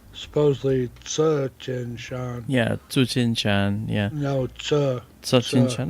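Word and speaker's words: Tsuchinshan: the dialects in China, the TS is pronounced ch, like you said, and others it's ts.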